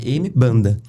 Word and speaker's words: Mbanda: palavra tinha M banda, mas na pronúncia, né, do da do King Kongo, né, que é essa palavra, eh se falava um. Então o M tem a pronúncia de um e dentro do Brasil virou um banda, né?